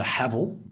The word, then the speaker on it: Haval: I am driving the Haval, which rhymes with gravel.